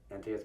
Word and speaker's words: Antaeus: Yeah, it's kind of lame, but Antaeus, come see us. Rhymes.